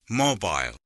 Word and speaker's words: mobile: And the stress is on the first syllable.